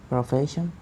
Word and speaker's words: profesión: Okay, so profession, profesión, occupation, ocupación, ocupación, profesión, profesión.